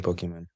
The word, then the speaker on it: Pokimane: Now Pokimane Yeah, the Twitch streamer or Poki Main? How do you pronounce it? Pokimane Pokimane.